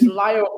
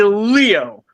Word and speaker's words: Lio: It's like no it's Lio. Stop saying Leo. L I I is the name in there.